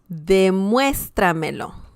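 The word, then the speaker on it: demuéstramelo: verb plus two pronouns okay so for example de muestra melo de muestra melo so that's how you pronounce that word okay and that means show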